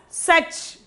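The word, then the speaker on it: सच: then such okay such we have to pronounce it as such such means truth such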